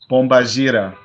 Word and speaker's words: Pombagira: Is it Pombagira or Pombagira? Pombagira.